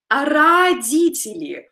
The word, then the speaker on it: родители: So we spell it with O, but we pronounce it with A, родители.